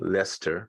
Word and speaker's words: Leicester: And if you just maybe can't reach Jeevan, well, he's in England and Leicester, right?